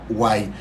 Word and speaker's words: Huay: mayas le llamaban White se pronuncia Guay se puede escribir de algunas maneras a veces con W A veces con h u a y como cuando te asustas